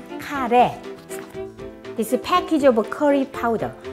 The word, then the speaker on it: 카레: Actually in Korean we say 카레 rice because curry we pronounce 카레.